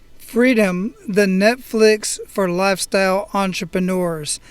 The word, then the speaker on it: Freedym: It's spelled Freedym. Freedom, the Netflix for lifestyle entrepreneurs.